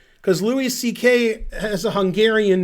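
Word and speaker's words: Székely: And the pronunciation in English is close to C.K., not Zekely, which you would say if you were American like me.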